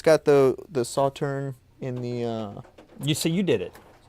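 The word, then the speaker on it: Sauternes: It's also, so it's got the Sauterne in the... You did it. Sauterne, that's how you pronounce I it.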